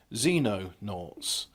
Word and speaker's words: Xenonaughts: I want to say Xenon like the noble gas, but it's not. It's Xenonaughts.